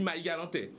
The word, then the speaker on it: Marie-Galantais: D'ailleurs, on ne prononce même pas le R, on transforme le R en H et on dit « je suis Marie-Galantais ».